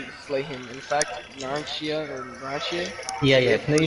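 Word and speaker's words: Narancia: In fact, Naranchia Yeah.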